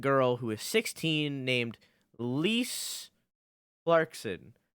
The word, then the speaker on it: Lise: who is 16 named Lise Clarkson it's spelled I Aerith spell L is like Lisa but without an a so it's like Lisa and she was murdered